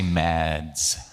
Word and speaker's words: Mads: the same person um you can pronounce it however you like there are Swedish Danish and English and other pronunciations of it when I'm in when I'm in English I usually say mads um so fre free